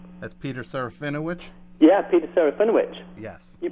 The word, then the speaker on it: Serafinowicz: Yeah, Peter Serafinowicz. Yes. You pronounced it good as well.